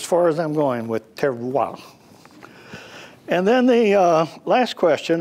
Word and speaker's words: terroir: So the French have a thing they call terroir. You can probably spell that, but not pronounce it like most French, terroir.